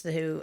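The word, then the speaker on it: The Hu: There's a band called The Who, not The Who with Pete Townsend, that Who, but it's The Who. I'm not going to spell it right. H-U. H-U, yeah.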